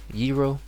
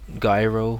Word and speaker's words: gyro: Euro or Jiro I guess or Jiro Jiro Euro yeah is how it should should be but it's not like gyro or Gyro but I yeah that's I hear